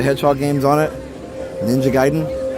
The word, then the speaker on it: Gaiden: Ninja Gaiden. Anybody know the Ninja game was Ninja Gaiden and not Ninja Gaiden? We always pronounced it Gaiden as kids.